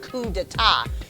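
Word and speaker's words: coup d'état: That should still be pronounced coup d'etat.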